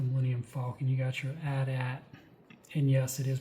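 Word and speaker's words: AT-AT: You got your Adat. And yes, it is pronounced Adat.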